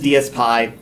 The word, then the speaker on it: DSPy: Now he says DSPy, but I really think that this should be pronounced Dispy. I'm going to call it Dispy, and nobody can stop me.